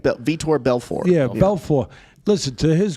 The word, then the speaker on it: Vitor Belfort: He's going to fight Vitor Belfort, retired UFC fighter.